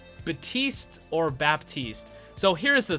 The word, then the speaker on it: Baptiste: not supposed to say the P, it's silent. And if I don't say it, and if I say Baptiste, then I have a whole bunch of comments complaining, there's a P, you're supposed to pronounce it.